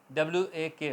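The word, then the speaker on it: walk: क टॉक ठीक है के से पहले ल आएगा तो ल नहीं बोला जाएगा आवाज आएगी वॉक वॉक की वॉक नहीं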